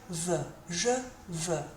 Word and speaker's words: veux: Pronunciation-wise, that EUX, think about the number 2 in French, which is de, and think about that E sound. That's what you need to be saying here. Je veux, I want.